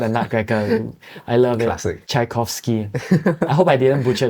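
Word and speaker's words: Tchaikovsky: classical pce called a ner I love it chaikovsky I hope I didn't butcher the name you got it right and then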